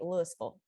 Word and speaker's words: Louisville: It is spelled just like Louisville, Yeah. Kentucky, but here we say Louisville.